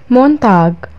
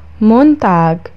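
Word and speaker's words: Montag: مونتاج، مونتاج الاثنين.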